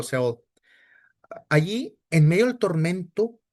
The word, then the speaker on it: Sheol: Perdón, es que lo pronuncié en inglés, pero Sheol.